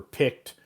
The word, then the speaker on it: picked: Peter Piper picked. Even though it's ed, it has a T pronunciation.